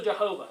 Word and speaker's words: Jehovah: They're often represented by YH, WH, and actually there are two different accepted pronunciations of Yahweh. Yahweh, which looks correct, but also Jehovah.